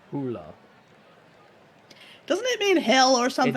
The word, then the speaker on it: Hole: By the way, in the first Harry Hula book, they actually do phonetically render his name because an Australian gets it wrong. They call him Mr. Holy, and he corrects it, and they spell it out, Hula.